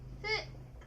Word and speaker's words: 父: 父がふと読みます。